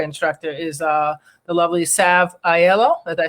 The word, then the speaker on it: Aiello: And your yoga instructor is the lovely Sav Aiello. Did I say her name right? Aiello, yes.